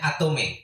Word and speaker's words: Atomy: Apa memang disebut bacanya Atomy? Ya betul. Atomy ya.